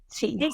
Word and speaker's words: Seton: Seton. Seton? Yep. Seton. Okay. All right. See, because I pronounce everything wrong, like Marin County, all of the things.